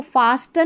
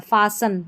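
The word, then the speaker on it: fasten: इसको फास्टन नहीं पढ़ना है। फासन बांधना होता है ना।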